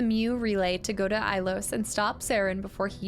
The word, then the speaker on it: Ilos: try this Brookie with peanut butter so it's ilos the pronunciation you pronounce it like ilos reload to save and finish reading wait wait